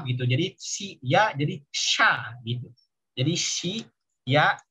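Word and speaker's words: しゃ: Jadi shi ya jadi sha gitu. Jadi shi ya bacanya sha.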